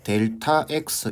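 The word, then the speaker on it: Δx: 세모 X라고 적고 읽을 때 델타 X 이렇게 적습니다. 아시겠죠? 세모 X라고 적고 이거 기호입니다. 기호. 델타 X라고 읽는 거예요.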